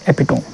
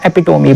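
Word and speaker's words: epitome: ना, तो उससे हम बोलते हैं एपिटोम या एपिटोमी बोलते हैं, ठीक है। एपिटोमी भी इसका सही प्रोनाउंसिएशन है, एपिटोमी।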